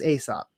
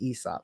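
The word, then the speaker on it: Aēsop: for the brand ESOP which I used to pronounce as Aesop but I did some research before today and I found out it's called It's pronounced ESOP but ESOP soap in beauty products that's who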